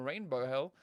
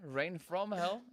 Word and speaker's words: Rain from Hell: I mean, I almost called them Rainbow Hell. But yes, here we are. Rain from Hell is the right way to say it.